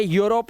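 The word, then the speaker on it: Europe: जैसे ये ये यूरोप है। इ यूरोप नहीं है। यूरोप।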